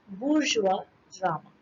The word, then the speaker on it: bourgeois drama: Spelling देख लीजिए ध्यान से, और इसका प्रोनाउंसिएशन भी वही है जो हम बता रहे हैं, दैट इज बुर्जुआ ड्रामा।